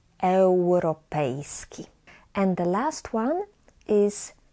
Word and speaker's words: europejski: I, U together we pronounce as eu, eu. Europa, europejski. So imagine that you have actually the W there instead of U. It will be easier to pronounce Europa, europejski.